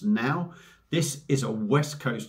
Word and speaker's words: Naw: sort of releases and it's a can of now now you look at that and it says n a w so you kind of think no but it's actually pronounced now this is a West Coast IPA coming in